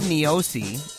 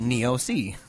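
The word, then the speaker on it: Niose: in radio but he said this uh David neosi is pronounced neosi I think we said NEOS last time he's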